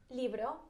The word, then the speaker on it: libro: Libro El libro. That sounds, it's got a B or a V in it, because it sounds like you're saying a V. A B. A B. El libro.